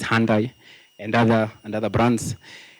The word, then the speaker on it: Hyundai: Yeah, it's not Hyundai, it's Hyundai and other and other brands.